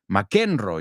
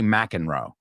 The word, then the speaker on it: McEnroe: McEnroe, you say, right? We say McEnroe. John McEnroe. Yeah, we don't pronounce it the same, that one.